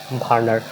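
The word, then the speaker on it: Werner: বিজ্ঞানী ভার্নার। উচ্চারণটা এটা কিন্তু ডব্লিউ দ্বারা শুরু হয়।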